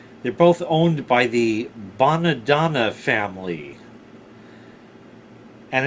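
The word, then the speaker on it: Bonadonna: both owned by the badana family and it's spelled a little funny but it's the chitalian way b o n a d o n na when I was in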